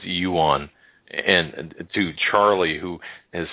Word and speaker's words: yuan: you know what's what's your problem with with pronunciation with the some of these it's Yuan and to Charlie who has sent me I